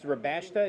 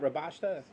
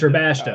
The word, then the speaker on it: Rabashta: Have I been saying that wrong? It's Rabashta, not Rabashta? Yeah, it's Rabashta.